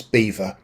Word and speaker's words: Belvoir: Stephen Green has pointed out that Belvoir, which is in Rutland, it is pronounced rather in an unlikely way as beaver.